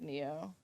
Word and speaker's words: Nioh: I haven't even heard of Neo. It's spelled Nioh.